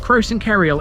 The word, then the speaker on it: Croxton Kerrial: First up we have Croxton Kerrial, and yes, that is how you pronounce it.